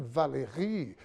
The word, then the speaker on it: Valéry: Recebemos direto da redação Monsieur Gabriel Valéry. Aprendi a pronúncia agora francesa.